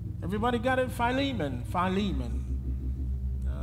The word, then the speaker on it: Philemon: got it finally man Philemon some folks might pronounce it filamon but all right y'all with me and we're going to read Verses 4 through 18.